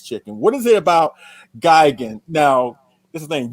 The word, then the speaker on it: Gigan: So my tendency is to let me quickly say my tendency is to emphasize the first syllable as opposed to the second syllable.